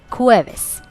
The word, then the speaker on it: jueves: Thursday, jueves. Now in Spanish the pronunciation for J is K, so it's a little rough pronunciation, not J, not a J pronunciation. So jueves.